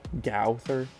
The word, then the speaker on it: Gowther: Like this card, I think you said it's pronounced like cow, so Gowther.